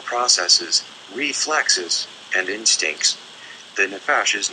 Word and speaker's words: nephesh: The nephesh, pronounced nephesh, is the so-called lower realm, the water beneath the wind.